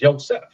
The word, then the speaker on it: Yosef: Their true pronunciation is Yosef, which means God will increase.